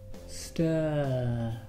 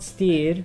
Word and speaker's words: stir: Empieza con un S, se dice stir, stir, not steer, stir, not steer, stir, let's hear you, Isabel, stir.